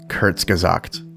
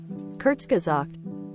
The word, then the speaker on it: Kurzgesagt: and I've looked at the pronunciation 10 times. Hold on. Kurzgesagt Kurzgesagt Kurzgesagt Kurzgesagt, okay.